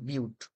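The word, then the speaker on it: but-: এটা কিন্তু বাট না, এটার উচ্চারণ হবে বিউট।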